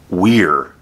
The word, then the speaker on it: were: It might look like this word, but remember that this is pronounced we're, and this is pronounced were.